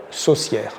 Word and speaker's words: saucière: C E accent graveux saucière saucière répéter saucière c'est un petit peu comme le mot sorcière presque oui ça se termine de la même façon sière oui prononc sorcière pour